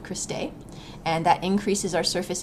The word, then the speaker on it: cristae: here these folds are called cristae or Christie or Christie I've heard and pronounced several different ways but these folds are going to be called cristae and that increases our